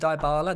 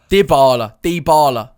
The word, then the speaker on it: Dybala: It's not Dybala. It's die. Dybala. How do they pronounce it in Italian? In Italian, Dybala. Dybala. He's Argentinian. Yeah, but in Italy they pronounce it Dybala. If he's Argentinian, it's definitely Dybala. Dybala.